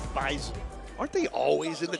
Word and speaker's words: Bison: North Dakota State, by the way, it is pronounced Bison, not Bison. Bison.